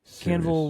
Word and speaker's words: Cavill: Is it Canville or Cavill? Cavill.